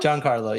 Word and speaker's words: Jancarlo: How do you pronounce it? It's Natasha. Huh? Oh, sorry. Oh, no, sorry. Jancarlo? Jancarlo, yeah.